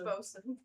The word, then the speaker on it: boatswain: Boatswain? The boatswain. Boatswain. And it's pronounced bosun.